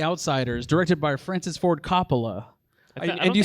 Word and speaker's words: Coppola: reason 1989's the outsiders directed by francis ford coppola and you said that did you say that